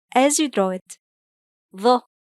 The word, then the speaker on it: ظ: The sound is ظ. ظ. It's one of the emphatic sounds.